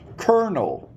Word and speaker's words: colonel: the challenge I asked you for the word konel konel like the Kel in an army if ever you are learning silent letters this is a word that comes up